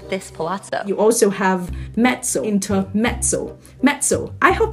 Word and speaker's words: mezzo: are pictures of this pazo you also have metso inter metso metso I hope you got that